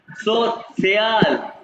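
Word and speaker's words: sozial: सो स्या मीडियम बेनुत्सन सो सियाल क्या गौर से सुनो 100 सियाल मीडियम सोयाल मीडियम कैसे प्रोनाउंस करो 100 सियाल मीडियम प्रोनाउंस करो मेरे साथ सोल इंग्लिश नहीं है सो सियाल क्योंकि को सेट करते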